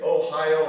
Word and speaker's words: Ohio: accents like english right we have the state ohio and we say ohio it's got stress on the high in the middle of the word but in japanese it's a similar word ohio means good morning and ohio has a flat even stress across them so japanese